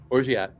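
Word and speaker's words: orgeat: Um, then we have a half an ounce of orat. I thought it's pronounced or I think it's ora. I've heard both. I say both.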